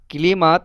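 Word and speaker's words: климат: মানে জলবায়ু বা আবহাওয়া ইংরেজিতে ক্লাইমেট মানে আবহাওয়া বা জলবায়ু। তো ক্লাইমেটটাই এখানে উচ্চারণ কলিমাত।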